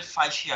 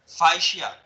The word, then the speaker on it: fascia: जो पहली लेयर है, ये फर्स्ट लेयर, इसको रेनल फाइशिया कहते हैं।